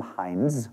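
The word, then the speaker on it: Hindes: This was created by a graphic designer named Tim Hines, not spelled like the ketchup, which is a Pittsburgh company, Hines Ketchup, but H-I-N-D-E-S, who was driving home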